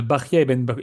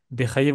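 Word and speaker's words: Bahya: Bechaye, vous comprenez que c'est une mauvaise prononciation du prénom Bahia lorsqu'on l'écrit en hébreu.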